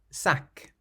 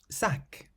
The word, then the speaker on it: sac: The consonants at the end of these words are clearly pronounced. Sac. Sac, meaning bag.